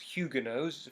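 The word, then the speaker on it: Huguenots: that's a annoying word to spell but it's pronounced Hugo knows French word and it's a word referring to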